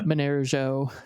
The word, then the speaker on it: Monero: So like when I try to say Monero, which is the other awesome Android wallet for Monero, it took me 7 years to learn how to actually pronounce it properly because I don't speak Esperanto.